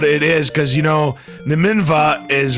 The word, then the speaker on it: Nimanva: I do believe the correct pronunciation is Nimanva.